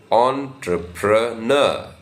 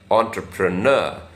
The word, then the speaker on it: entrepreneur: in this on has a slight stress so entrepreneur entrepreneur uh the primary stress is on the last syllable entrepreneur so when you U are careful